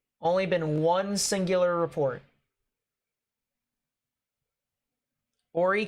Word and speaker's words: Horry: been One Singular report Horry County that's what it's pronounced and that's uh over